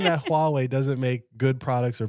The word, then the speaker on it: Huawei: I want a highway phone. A highway phone? Isn't it highway? Huawei? Yeah. How do you pronounce it? Hua. Oh, I want a Huawei phone.